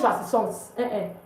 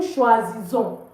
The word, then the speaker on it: choisissons: So please don't pronounce the S. It's not nous choisissons. It's nous choisissons.